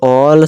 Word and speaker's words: all: इसे पढ़ लेते हैं जब किसी वर्ड में ए के बाद डबल एल आए ए के बाद डबल एल आ रहा है जी हा आ रहा है तो एक को ऑल से पढ़ते हैं चलिए इसका एग्जांपल